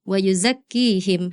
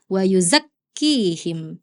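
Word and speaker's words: ويزكيهم: Nah, iya di ayat 129 tasdid itu kan artinya menyambar artinya kuat ditekan membacanya. Tadi kakak tidak ditekan membacanya. Tadi kakak baca gini. Wauzakkihim. Harusnya wauzakkihim. Disambar ditekan. Ya.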